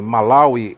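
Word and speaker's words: Malawi: continente a e na África neste lugar em malauí é os cristãos Testemunhas de Jeová conforme era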